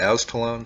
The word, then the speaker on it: Aztalan: gonna go down to Ascalon State Park and I think that's how it is pronounced I've heard it pronounced a few different ways but this is along